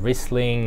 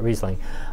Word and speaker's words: Riesling: say it right like i wouldn't want to call riesling wrestling or riceling although in a couple parts of the world that's actually phonetically correct but generally we call it riesling but yes it is